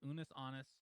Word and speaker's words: Unus Annus: It looks like anus with two N's, but it's Unis Honest.